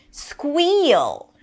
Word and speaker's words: squeal: Squeal. Stop squealing. Squee. High E after the squ. Squeal.